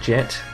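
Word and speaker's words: Jett: much about fallout but that is how you pronounce jet it's not spelled exactly the same I've got two T's in my name what what character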